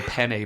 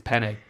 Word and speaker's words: penne: I had a mate of mine who used to call penne pasta, pen pasta. And I'm like, it's penne.